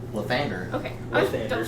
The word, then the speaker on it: Lathander: Lathander. Lathander. Okay. I was Lathander. double checking that I pronounced it Alexander.